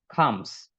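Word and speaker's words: comes: ওকে, আর উচ্চারণটা খেয়াল করবেন, এখানে হচ্ছে আমরা সির উচ্চারণ ক দিয়ে করে থাকি, কাম বলি, এটা কাম না, এটা হচ্ছে খর উচ্চারণ হবে, খামস, খামস, মাস্টি স্মেল খামস ফ্রম মাউথ।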